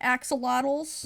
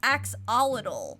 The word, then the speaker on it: axolotl: saying it right but I think at first I was saying like axolidol I think I said and that was wrong and everyone told me it was actually axolotl so people can change